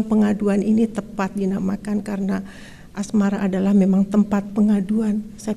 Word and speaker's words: Asmara: Asmara, A-S-M-A-R-A ejaannya, Asmara sebutannya, Bang As sebutannya, 100 harinya, Februari tanggalnya, 2011 tahunnya.